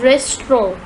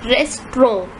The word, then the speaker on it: restaurant: you might have noticed the pronunciation of restaurant it is not restaurant it's rest wrong for examples the White